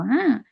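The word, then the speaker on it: ه: হা এই হা উচ্চারণ একদম নরম করে, মানে স্বাভাবিকভাবে এই উচ্চারণটা হয়।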